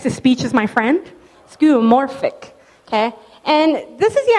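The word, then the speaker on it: skeuomorphic: if you heard that but that's how you pronounce it cuz I screw up everything so text to speech is my friend skoric okay and this is the idea that skoric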